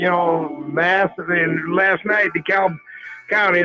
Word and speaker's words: DeKalb: mass in last night dekalb county they can't even pronounce it right you know they keep calling it the cab county i am opposed to